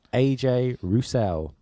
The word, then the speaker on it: AJ Rousell: yeah good right so our guest today is AJ Russell yeah is that connect yeah correct pronunciation yes you messed up saying correct pronunciation